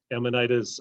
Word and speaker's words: Amanita: Amanitas, we'll touch on, if we have time, mycorrhizal lifestyle and some free living aspects.